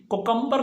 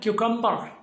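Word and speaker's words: cucumber: नंबर 7, आजकल सर्दियां हैं और खीरा बड़ा आम है, तो इसको भाई कुकम्बर नहीं पढ़ना, इसको हमने पढ़ना है क्यूकम्बर, क्यूकम्बर।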